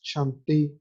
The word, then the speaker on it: chanter: los del primer grupo, la última R no se pronuncia en el infinitivo, es decir, por ejemplo, cantar, pensar, es chanter, penser, a pesar de que tiene una R, no se dice es muda.